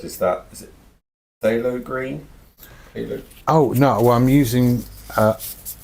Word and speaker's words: phthalo green: Just phthalo green? Yes. Okay. Silent P.